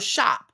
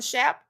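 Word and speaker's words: Schaap: Pastor Jack Schnop or Shop or I think I'm saying it right, Shop.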